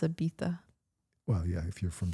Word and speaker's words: Ibiza: I And thought it's pronounced Ibiza.